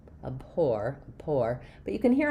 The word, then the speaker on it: abhor: So in the word abhore we have second syllable stress which means um my letter a is not going to be the a or the a sound. It's going to be a reduced short little sound.